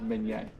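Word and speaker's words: Minié: And then the mini ball is like the Americanized version of Minier.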